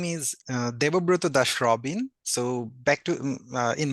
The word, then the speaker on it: Debobroto Das: yourself okay hello everyone so my name is Debo Bruto Dash Robin so back to in my country usually